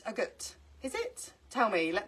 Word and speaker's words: agate: then I googled it, and apparently it's pronounced agate.